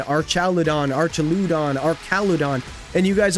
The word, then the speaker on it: Archaludon: We even did, like, how do you pronounce Archaludon? Archaludon, Archaludon, Archaludon, Archaludon.